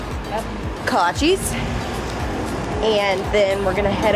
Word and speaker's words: kolaches: and then eric's getting i think there's pronounced kolaches kolaches and then we're gonna